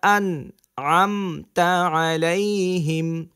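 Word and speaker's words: أنعمت عليهم: সিরাতাল্লাযীনা আন আমতা আলাইহিম, শেখার ক্ষেত্রে আপনি প্রথমে এভাবে পড়েন, সিরাতাল্লাযীনা আন আমতা আলাইহিম।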